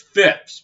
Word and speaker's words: Phipps: It's Phipps, by the way, not Pipp.